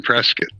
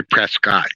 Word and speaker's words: Prescott: 60 miles away from Prescot yeah Arizona and you got to pronounce it right you can't say Prescott you have to say Prescot otherwise the people from Prescot will get mad at you uh oh yeah